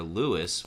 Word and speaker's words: Lou Burdette: the luberdet so lou all three of these cards spell it l-o-u but actually lou is short for lewis which is his middle name and it's lew and it's lew so